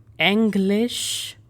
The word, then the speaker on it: Englisch: Englisch. So here you need to make sure you're not pronouncing this as English. English is the correct pronunciation.